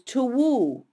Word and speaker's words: two: are two leftover but back then they pronounced the W in two so it was tuo left and that blurred